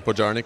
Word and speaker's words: Podjarny: Yeah, Podjarny, correct. Welcome, he's the CEO of Snyk. Not spelled like sneak, you'll see it on the lower third.